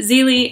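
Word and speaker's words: Zélie: The protagonist, Zelie, I think it's pronounced Zelie, not Zelly, I forget, but she's great,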